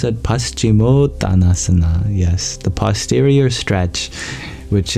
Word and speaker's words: Paschimottanasana: How do I pronounce it? Paschimottanasana.